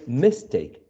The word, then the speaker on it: mistake: and mistake the the the prefix miss is not attracting the um stress so we don't say mistake the uh we add the prefix and the root the verb in this case um keeps the stress take mistake the same with the